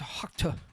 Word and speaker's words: Okja: that Snowpiercer and I think it's is it Okja? OKJA. It has I think it's Okja.